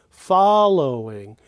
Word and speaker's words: following: listen to the following following and note that the fall of following is the highest pitch follow the low is the low pitch and then the Inge